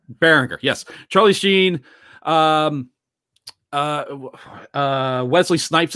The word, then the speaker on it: Berenger: Tom Bergeron, I almost said Bergeron. Bering. Oh God, how do you say his name? Beringer. Yeah, Tom Berenger. Berenger.